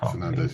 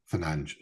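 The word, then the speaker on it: Fernandes: So, he'll probably end up there because Fernandez is probably going to end up moving somewhere. Fernanch, sorry. Need to get need to say his name properly.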